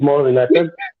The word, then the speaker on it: Maureen: me yesterday I said that's not how to pronounce her name her name is Maureen for you yeah I decided to use